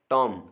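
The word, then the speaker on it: tomb: इसमें B silent है टॉम इसमें भी बी साइलेंट है तो नेक्स्ट जो है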